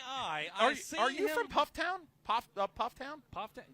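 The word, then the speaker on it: Pfafftown: up puff Town puff it's not puff toown it's puff town I didn't say poof that's what you did Puff Puff Town puff Town puff town okay PFF town is spelled p f a FF t o n there's tons of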